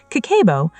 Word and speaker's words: kakeibo: Kakeibo, pronounced kakeibo, is a Japanese household budgeting method that